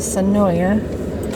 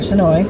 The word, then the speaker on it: Senoia: This is a Dead Oak Road off of Senoia, or Senoia, I'm sorry. I always say it wrong.